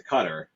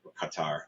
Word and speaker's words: Qatar: when they got to Cutter Qatar I always say it wrong I I'm from I get to say it however you can say it whichever way people intelligent people say it both ways so I just do